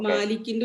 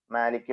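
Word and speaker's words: مالك: അത് സിമ്പിൾ ആയിട്ട് വരും ഈ മാലിക്കിന്റെ ഉച്ചാരണം ഒന്നും കൂടി ക്ലിയർ ആക്കിയിട്ട് പറയണം മാലിക് മാലിക്കി മാലിക്കി എന്നുള്ളത് മീമിന് ചെറിയൊരു ഇമാലത്ത് ഒരു ചെറിയൊരു ചെരിവ് നൽകിയാൽ നൽകാതെയും വായിക്കാം നിർബന്ധം ജായിസാണ് നമ്മുടെ സൗരഭ്യം വായിക്കാം മ എന്ന് വായിക്കണം കറക്റ്റ് നേരെ നിന്നുകൊണ്ട് മലയാളത്തിൽ പറയുന്ന മ എന്ന്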